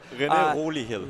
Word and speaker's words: René Olihill: René Olihill is how you say it.